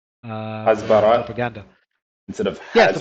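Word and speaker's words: הסברה: Usually Hebrew words have stress on either the last syllable or the one Bara. before the last syllable.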